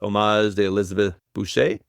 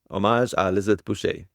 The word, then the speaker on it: Hommage à Elisabeth Boucher: the 2016 vintage called Hommage de Elisabeth Boucher. I always pronounce that wrong. Hommage à Elisabeth Boucher.